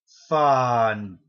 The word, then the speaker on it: Fandango: It's Fandango. I believe that's how you say it. You have to let the A's breathe, apparently.